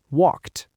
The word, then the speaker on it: walked: Walked.